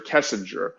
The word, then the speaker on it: Kessinger: totally her name is Nicole kiss kessinger not Kissinger kessinger and I can actually